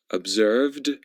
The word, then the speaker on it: observed: Observed with a d sound, crashed with a t sound, and concluded with an id sound.